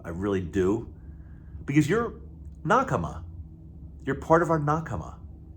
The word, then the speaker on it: nakama: I love you I really do because you're nak you're part of our nak and if you're brand new look look up that word n a k a m a nak it's actually a Japanese